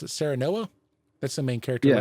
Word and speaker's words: Serenoa: It says players take on the role of, how do you pronounce it? Serenoa? That's the main character, Yeah, right? that's right. Serenoa, who is the current heir to the kingdom of Glenbrook.